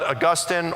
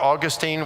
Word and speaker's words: Augustine: And then you've got Augustine or Augustine. We don't know what was the proper pronunciation back then, so either is fine.